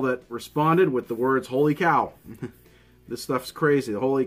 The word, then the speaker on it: Wholly Kaw: you know what Abraham how do you pronounce it holy cow or holy cow and he said you know it was interesting because a lot of people do say it differently but it is actually holy cow and the reason behind